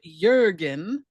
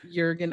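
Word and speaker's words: Jürgen: Yeah, well, Jurgen, I don't know. I do think they say Jurgen more than Jurgen, but We can go with Jurgen because I know like the actor Jurgen Prochnow pronounces it that way.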